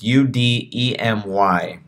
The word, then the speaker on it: Udemy: It's Udemy. That's how you spell it.